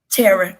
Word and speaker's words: Thera: And Tara, before I let you go, and I'm saying that correctly, right? Tara, yes. The Tara, H is silent.